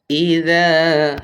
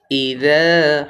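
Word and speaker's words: إِذَا: আওয়াজ হবে, হাসিদিন হাসিদিন ইযা হাসাদ ইযা হাসাদ ইযা এখানে জালটা কিন্তু নরম হবে, জাল হরফটা আসলে জিহ্বার আগা সামনে দুই দাঁতের সাথে লেগে উচ্চারণ করতে হয়।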